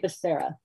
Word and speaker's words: Becerra: see the chat so it's secretary becerra that's sarah okay b-e-c-e-r-r-a all right great thank